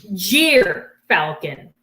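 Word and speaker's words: gyrfalcon: excited all right so this is called a jeer falcon that's spelled g-y-r and they live in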